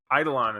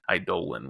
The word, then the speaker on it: Aidalon: It's Eidalon, and like in I think the US most people call it Eidalon, but some people say Eidolon, which I never had heard before. I was like shocked.